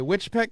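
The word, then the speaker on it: Weitchpec: you're from white pak how do you pronounce it what's that which pack okay witch pet california it's a small community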